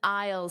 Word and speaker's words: aisle: Notice that pronunciation. The pronunciation and spelling are very different. Aisle. I o I I and then that dark L, ul ul, aisle. aisle Two sounds, aisle aisle.